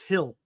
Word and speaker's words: Gil: it's pronounced Hill G I think it's Hill right I never heard him called hill before they have a hill but not a they don't have two Hills there's a hill and a hill Luis Hill it's I think it they pronounce it Hill okay everybody says Patrick